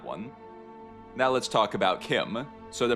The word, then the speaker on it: CHIM: Someone said it was Chim as in chimney, but I recently found out that Kirkbride actually said, "No, it is Kim."